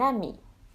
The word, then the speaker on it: amie: Now, if the masculine ends in a vowel, both masculine and feminine will have the same pronunciation even if the feminine has the extra E, as the E is silent.